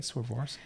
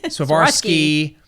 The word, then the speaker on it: Swarovski: Swarovski? I always say Swarovski. You know what it is. Swarovski crystals.